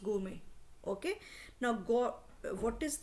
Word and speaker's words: gourmet: है, इसमें मेट है, बट मेट को बोलते नहीं है, इट हैज़ टू be pronounce गोमे.